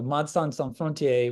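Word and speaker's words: Médecins Sans Frontières: keep using msf so madsan Frontier which is the French pronunciation if you're French speaking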